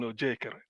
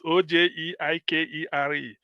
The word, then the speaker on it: Ojeikere: Benson Ojekere. I don't know, maybe I didn't pronounce the name very well, but it's Ojeikere.